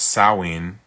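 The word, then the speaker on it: Samhain: SH or pronounced sawin means summer's end in Irish Gaelic.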